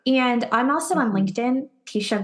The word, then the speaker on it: Teisha: And I'm also on LinkedIn, Teisha, which is a mouthful. And I'll spell it out because it's not quite the normal name. So it's Teisha, Teisha, and then, Gillesp as in Paul, IE.